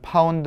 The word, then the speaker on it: lb: 이라고 표기가 되어 있는데요 여기서 엘빈은 표기는 lb 로 되었지만 파운드 라고 읽으셔야 하고요 10.3 파운드에 힘